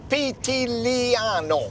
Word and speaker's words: Pitigliano: Pitigliano.